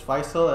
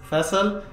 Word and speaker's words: Faisal: english and urdu well english or in arabic is faisal and then in urdu this man over here tells me that it's vessel nobody really calls me